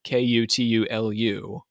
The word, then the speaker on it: Cthulhu: In fact, the hierarchy of the gods is completely ignored, and Cthulhu, which is spelled Cthulhu, Kutulu, comes up over and over and over again.